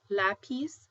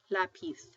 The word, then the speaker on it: lápiz: it like a TH So everywhere else it would be Zorro (soar oh), lápiz (lah peace), but if you go to Spain it's going to be Zorro (thor oh), lápiz (lah peeth).